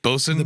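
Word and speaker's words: boatswain: Honestly, I don't think it's pronounced boat. I think it's bozen. Batson. Bosen. Bosen. Yeah. Bosen. It's spelled weird, but it's pronounced even weirder.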